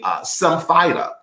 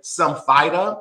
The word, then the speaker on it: Symphyta: And let me say it up front that I'm going to probably use a couple of pronunciations of the word, and I will use them interchangeably. It's like people who say envelope or envelope or Andrea or Andrea. So I will say Symphyta is certainly one pronunciation of the word. Others might say Symphyta, but the Symphyta or